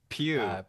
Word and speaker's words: Pugh: Pew.